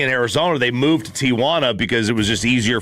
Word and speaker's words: Tijuana: going to be in Arizona, they moved to Tijuana because it was just easier for them to have everybody they needed. So when they get to the game, they play the game. Are you saying Tijuana or Tijana?